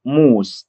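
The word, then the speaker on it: Mohs: طب علشان نقدر نحدد الخواص اللي هتيجي من الرابطة الفلزية لازم يبقى عندنا حاجة اسمها مقياس موس، أو بنقول عليه موهس بس اله ما بتتنطقش.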